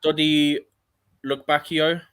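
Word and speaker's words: Dodi Lukebakio: Dodi Lukbakio, I think you pronounce it, he's at Sevilla, and then Openda Leipzig.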